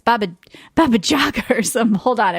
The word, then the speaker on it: Baba Jaga: I thought it was Baba Yaga, but it's Baba Jaga or something. Hold on. I wrote it down. There's another Baba. Baba. They might pronounce the J like a Y.